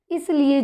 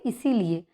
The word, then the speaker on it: इसलिए: वो मैं बोलती हूँ इसीलिए। तो उन्होंने मुझे ये कहा कि मैम ये जो आप उच्चारण करती हैं इसीलिए, तो ये इसीलिए नहीं होता, ये इसलिए होता है क्योंकि हम हिंदी के